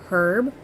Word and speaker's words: herb: Which gives me a hard time to say because I always want to say herb with the H, but it's not. It's herb because the H is silent because English is weird.